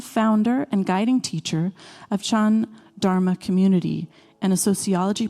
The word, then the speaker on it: Chan: or Zen Buddhist tradition, and Chan is the Chinese pronunciation of Zen.